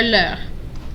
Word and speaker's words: leurs: So, leur or leur. They're pronounced the same, just one has an S.